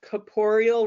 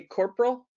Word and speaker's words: Corporeal: here in Portland called Corporeal Writing. And I love it when people mispronounce it because they usually say corporal. And then I can picture myself with like a whip. Corporeal Writing. But it's corporeal.